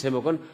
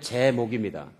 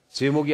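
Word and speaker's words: 재목: 오늘부터 시작하는 그런 말씀의 시리즈 제목은 하나님의 제목입니다. 제목이 아니고 제목.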